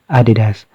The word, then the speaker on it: Adidas: Actually, ang correct pronunciation niya Adidas.